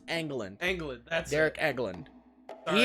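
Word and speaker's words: Engelland: is it Derek England I almost said no because it's pronounced Anglin England that's Eric Eggland's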